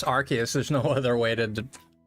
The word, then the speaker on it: Arceus: Do me a favor, pronounce Arceus. Arceus. But it's Arceus, there's no other way to...